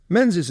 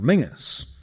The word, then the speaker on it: Menzies: Menses in fact preferred his surname to be pronounced in the traditional Scottish manner Mingus which was the original of the nickname Ming the Merciless.